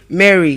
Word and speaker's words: Mary: And Mary is pronounced as what? Mary. It is pronounced as what? Mary. It is pronounced as what? Mary. Again, Mary. Again, Mary. So we know the song Mary has a little lamb. So that name is not like mispronounced. So you get, but we're just bringing it to it because it's an English name.